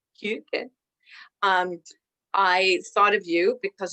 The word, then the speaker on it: Hygge: And when I decided that I wanted to do a service on, and you've just been teaching me how to say it properly, so I will try, Hygge, Hygge.